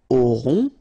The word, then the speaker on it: aurons: aura, elle aura, okay, nous aurons, final S not pronounced, O and N together, nasal, on, A, U, O, auront,